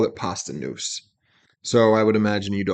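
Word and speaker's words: Posdnuos: La Soul known as Pasta Noose. It's spelled different. It's spelled, let me see. I have the thing open here. Let's see if there's, Postdnuos. Okay. Pasta Noose is how you say it.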